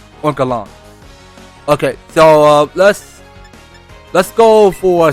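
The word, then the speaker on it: Oinkologne: Or was it Oinka Lounge? No. I mispronounced. It was Oinkalon.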